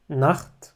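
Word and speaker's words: Nacht: عندنا النخط اللي هو الليل نخت هنا بتتنطق زي الخاء او بخ اللي هو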